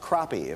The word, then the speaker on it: crappie: it comes to fish I believe that fish is pronounced crappie cppy sorry about that nice